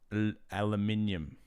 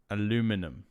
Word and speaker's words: aluminium: else i don't know aluminium aluminum and aluminum is that how americans say it aluminum i think